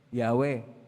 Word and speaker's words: Yahweh: Kung atin pong bigkasin yan, mahirap pong bigkasin, Yahweh. Yung iba, tinatawag Jehovah, mali po ang Jehovah.